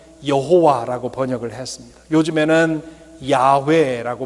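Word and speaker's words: 야웨: 했구요 개역 성경은 여호와 라고 번역을 했습니다 요즘에는 야외 애라고 보 발음을 합니다 야외는 출애굽기 3장 14절에 서 나온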